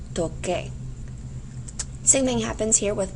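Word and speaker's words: toqué: to play an instrument, if I didn't know any better, I would drop my AR and I would add A. But according to our pronunciation rules, that would be pronounced as tose. We don't want tose, so the C goes to QU, becoming yo toque.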